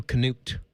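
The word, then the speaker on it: Knute: Is it Newt or K-Newt? I think there's a little Canute. I think you pronounce that hard K at the beginning.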